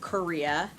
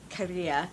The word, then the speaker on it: Correa: Okay, back in the day, everybody thought this song was by Gino Correa, as apparently I say Korea, and it's Correa, and I am incapable of pronouncing things in Italian, nonetheless.